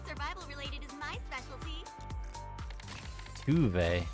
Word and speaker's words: Tove: Tuve. So that's how you say her name. I had zero idea this whole time. I just call her Tove.